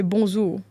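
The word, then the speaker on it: bonzour: So you would say if it's bonjour in creole we say bonour bonjour.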